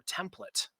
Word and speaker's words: template: So I mean, first of all, I think we have to open this up and say, is the correct way to say template or template? Oh, it's definitely template.